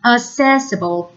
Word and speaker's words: accessible: this adjective is pronounced accessible with the stress on the second syllable but the verb and